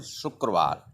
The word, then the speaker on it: शुक्रवार: शुक्रवार. शुक्रवार. शुक्रवार. You Friday and in Hindi शुक्रवार and in English the pronunciation शुक्रवार.